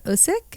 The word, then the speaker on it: Usyk: But again, there was a clash between Tyson Fury and Alexander Usyk.